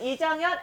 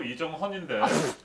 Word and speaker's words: 이정헌: 잘생긴 훈남 앉아 계신 여러분들 잘 아시는 이정현 앵커님, 그 다음에 박예슬 아나운서님 오셨습니다. 여러분 환영의 박수 부탁드립니다. 자, 네. 반갑습니다. 그런데 제가 이정현이 아니고 이정헌인데 큰일 났네, 큰일 났어.